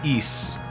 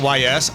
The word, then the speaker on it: Ys: But yeah, the pronunciation is east. It and I understand why you pronounce it YS.